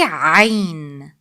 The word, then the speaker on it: عين: However, the ain sound is smoother. Try to put your finger on the lower part of your throat. A comes from there. Now put your finger a little bit above. That's where ain sound comes from. the middle part of throat. Say عين.